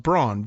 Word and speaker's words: Braun: Says, my name is Brown, but it's spelled Braun, B-R-A-U-N.